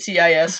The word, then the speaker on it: cis: that aren't their straight CIS males. Oh Jesus! It's just pronounced cis.